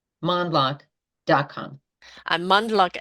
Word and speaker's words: Mondloch: in LinkedIn monl we don't pronounce the D but the D is there m o n d